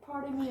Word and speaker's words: pardon me: It's like the D is almost a T, but like it's like a light.